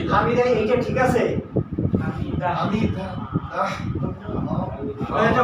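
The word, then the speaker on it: حمده: হামিদা বলেন তো হামিদা এইটা ঠিক আছে হামিদা হামিদাহ এটা হ থাকবে না এইটা এইটা হ থাকতে হবে হামিদাহ হ এখন যদি কেউ তাইলে হ বাদ দিয়ে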